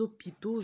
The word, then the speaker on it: hôpitaux: les haricots regardez là j'ai dit des hôpitaux j'ai fait la liaison mais pour les haricots